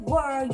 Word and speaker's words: world: Tonight, I'll be everywhere in the world. You don't wanna lie. 좋아요. world 발음 너무 좋고 맨 끝에 D만 살짝 더 내주시면 World.